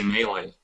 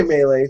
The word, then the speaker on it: Melee: I say Melee. I should say Melee.